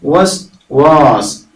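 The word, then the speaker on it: وسواس: എന്നാ വായിക്കുക അതുപോലെ സാധാരണ നമ്മൾ വസ്വാസ് എന്ന് പറഞ്ഞു ശീലിച്ചിട്ടുണ്ടാവും വസ്വാസ് അപ്പൊ അത് ഒന്നുകൂടി ചടുലമായിട്ട് വായിക്കാൻ ശ്രദ്ധിക്കണം വസ്വാസ് അല്ലതി അവിടെ അല്ലിയില് അല്ലിയില്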